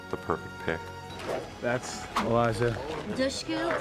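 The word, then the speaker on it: Dushku: perfect pick that's Elijah dushu pronounced like push D tush tush I love really a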